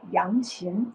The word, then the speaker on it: yangqin: My instrument is called Yangqin.